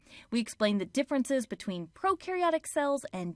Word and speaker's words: prokaryotic: We explain the differences between prokaryotic cells and eukaryotic cells using the popular mnemonic that pro rhymes with no and eu rhymes with do.